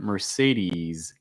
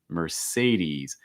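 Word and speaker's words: Mercedes-Benz: when you say that mercedes and again long i sound it's not as it's more e's e's mercedes mercedes for your car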